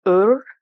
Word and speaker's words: Ur: uh this one here which is pronounced you or else spelled you are I believe it's pronounced UR and this is representing